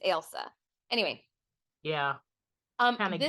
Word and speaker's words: Ailsa: So this is one of those like it's not Elsa like Frozen, it's Ailsa.